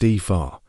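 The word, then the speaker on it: Aoife: Epha, that's a o e. It's pronounced Epha.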